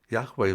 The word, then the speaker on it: Yahweh: to be accurate it would be yahweh's Witnesses Yahweh Witnesses but they don't say that they're using